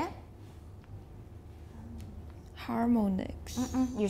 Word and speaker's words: harmonics: We pronounce it like ah.